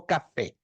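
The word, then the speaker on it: Kaf: Você dá a entonação na primeira sílaba.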